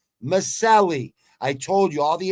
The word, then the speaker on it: Miceli: quilly verse Danielle Miceli Miceli that's how you say it because that's Italian people trying to explain to me see that vowel at the end That's Italian Masali I told you all